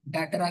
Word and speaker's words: धतूरा: Cannabinoids, LSD, धतूरा, Atropa को, चाहे धतूरा को अंग्रेज लोग डैटरा कहते हैं। ठीक है, उनको जो बोलना है बोलो। धतूरा ही ओरिजिनल नाम है,